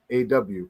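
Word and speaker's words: أو: Look, it says the word "or" in Arabic is most commonly translated as "aw," pronounced as "owl," rhyming with the English word for cow or owl.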